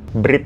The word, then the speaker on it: Bread: Bread ya bacanya, bukan brand.